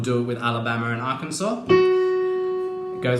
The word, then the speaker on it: Arkansas: in the words Alabama Arkansas spelt funny with that S on there but you don't pronounce the S I do love my